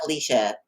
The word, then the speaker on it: Alicia: keep saying Alicia. That's It's right. oh, That's Alicia. okay. I thought I was pronouncing it incorrectly.